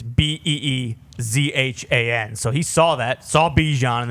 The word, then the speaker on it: Bijan: And he said on his board, phonetically, it is Beezhan.